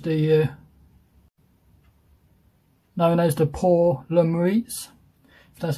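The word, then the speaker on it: Pour le Mérite: kit which is the uh known as the poor lemuriates that's how you pronounce it but english terms known as the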